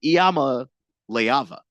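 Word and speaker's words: Iamaleava: Last name, Iama Leava is how you would pronounce it.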